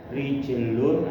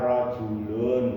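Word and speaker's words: رَجُلٌ: Mislu, contoh, rijlun apa rajulun, bacanya itu nugroho jawabannya bukan rijlun.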